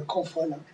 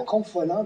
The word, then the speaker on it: Confolens: On ne savait même pas comment le prononcer. Guy Landry disait Confolens. Tout le monde disait Confolens. Remarquez bien que ce qui n'était pas une erreur en soi, parce que c'était d'origine latine.